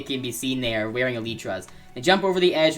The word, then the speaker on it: elytra: a light they can be seen there wearing elytraz they jump over the edge and fly down